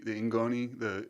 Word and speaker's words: ngoni: you're gonna have to help me with the pronunciation. But there's the Cora, and is it the Nagoni? Yep, the Ingoni, Okay.